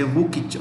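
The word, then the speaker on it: Vučić: The president is Alexander Vucic, VUCIC. I repeat, VUCIC, Vucic, Alexander Vucic. Alexander Vucic. You can say Vukic also.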